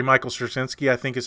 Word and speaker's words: Straczynski: Michael Straczynski, I think is how you say his name.